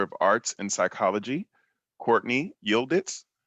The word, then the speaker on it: Yildiz: Our next graduate that we will be recognizing, receiving her Bachelor of Arts in Psychology, Courtney Yildiz. Did I pronounce that correctly? Yes, you did. Yildiz.